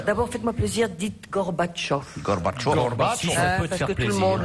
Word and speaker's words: Gorbachov: Gorbachov. parce que tout le monde le dit maintenant, tout le monde prononce bien.